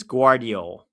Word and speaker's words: Gvardiol: Google claims it's Gvardiol. Gvardiol. So, I guess the V is pronounced W.